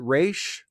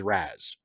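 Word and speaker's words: Ra's: there um intergalactic classics i pronounce it race because of batman the animated series but i have been told by multiple people that the the more correct arabic pronunciation is raz so i guess i should pronounce it raz but i still just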